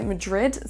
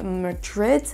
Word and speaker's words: Madrid: Attention également à la prononciation de la première syllabe de Madrid. Vous n'entendez pas Madrid, ce n'est pas un A, mais un E qu'on va prononcer.